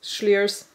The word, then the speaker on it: Schliers: Guys, that is how you pronounce Sliers. Schliers. Schliers, because it's from Schliersee.